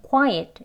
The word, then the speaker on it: quiet: 네, quiet 이 발음은 qui 앞에 강세가 있고요. 여기 보시면 t 하는 끝나는 데서 이 거꾸로 된 슈아 발음입니다. 원어민들이 단어 속에 모음을 강세가 가지고 있지 않는 경우 그냥 약하게 발음하는 거죠. 어와 의의 중간 소리입니다. 시작은 어로 하는데요. 입을 거의 벌리지 않아 의 소리가 같이 들어가 있어요. 그래서 하면 되겠습니다. quiet 이렇게 두 번 해볼게요.